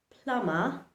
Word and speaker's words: plumber: For example, in words like climb, dumb, plum, thumb, plumber, dumber, the letter B remains silent.